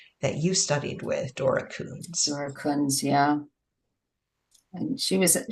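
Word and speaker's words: Kunz: you studied with, Dora Coons. Dora Coons, yeah. And she was amazing. Look her up. Just look her up. That's all I'm going to tell. Google her. It's spelled Dora, D-O-R-A, Coons, K-U-N-Z.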